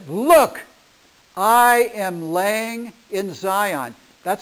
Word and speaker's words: Zion: most of the time you see it how z i o n okay but the S but the zy is an S sound Zion Zion is how it gets pronounced so you